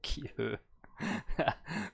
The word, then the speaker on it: 기회: That was a kiwi, but obviously not pronounced like that. It's kiwi. 기회. 기회, Kihö.